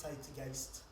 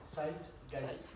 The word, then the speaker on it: Zeitgeist: Et juste en tant que germanophone, c'est Zeitgeist. Merci parce que je suis très nul pour les prononciations étrangères. Esprit du temps. Zeitgeist.